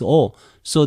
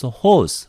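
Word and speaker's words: ὡς: Okay, in seminaries, they ask you to pronounce H. Add H sound before this O. So they pronounce hos. But in modern Greek, they don't pronounce H sound before the vowel with this sign, okay?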